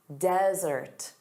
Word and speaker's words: desert: So, one S, dry arid land, desert. Desert. So, notice the syllable stress is on the first sound, da da, desert.